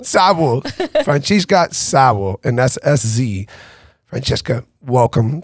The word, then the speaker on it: Franciska Szabo: She's from Hungary, and I want to try to pronounce it the best way possible. Francesca Szabo. Francesca Szabo. Szabo. Francesca Szabo, and that's S-Z.